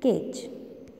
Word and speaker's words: cage: Cage. How we do? Cage. J. How the sound comes? J sound. Did you hear? Cage. You also repeat after me. Cage. Which sound is there? G is not there. J sound is there, isn't it? So it is a soft G.